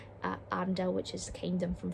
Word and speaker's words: Arendelle: Team number 3 is Arendelle. Apologies, I've pronounced that wrong. Arendelle, which is the kingdom from Frozen.